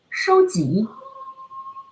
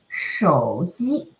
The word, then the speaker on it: 手机: People often pronounce like a 收集. But how it should be? We say 手机. 手 third tone 手机, right? 手机. So again, you have to pay attention on each single syllable. First is 手 third tone 手, then 机手机.